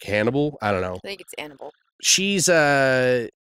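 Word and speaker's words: Annable: it's 8nn a ble it's not Annabelle de L Hannibal yeah I guess like Hannibal I don't know she's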